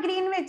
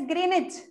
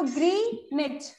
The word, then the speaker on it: Greenwich: इट्स नॉट ग्रीनविच, इट्स ग्रीनिच। Spelling I know, it's W is written but W is silent, so it's बोलो ग्रीनिच, ठीक है?